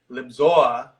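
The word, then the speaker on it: Lisboa: So Big Al has been in Libsyn, or as he would like to say, Libzoa, because that's how you pronounce it in Portugal.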